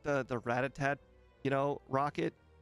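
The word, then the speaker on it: Rattata: oh I'm sorry I I taught myself it was called ratat and uh it's never never going to not be ratat war ratat ratat ratata no just ratat that's how I read it that's how it that's how it shall forever be known orad ratata well everyone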